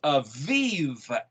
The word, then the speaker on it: Aviv: Aleph Bet Yod Bet is a Bib, and the Bet is pronounced as a V in vernacular. So it's Aviv, A-V-I-V.